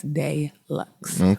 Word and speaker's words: Deluxe: It is spelled just like deluxe, but it's not pronounced like deluxe. It's deluxe, French, okay?